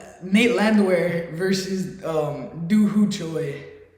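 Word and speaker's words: Landwehr: favorite fight on the card hopefully he doesn't mispronounce the names Nate Nate land Nate her no you had it you had it land wear Nate land wear vers versus um dooho Choy okay um who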